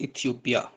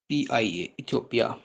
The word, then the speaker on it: Ethiopia: Next है हमारे पास इथियोपिया, ETHIOPIA, इथियोपिया।